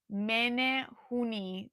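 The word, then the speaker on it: Menehune: In the movie, it's pronounced Oh, Juan says it's pronounced men hooni.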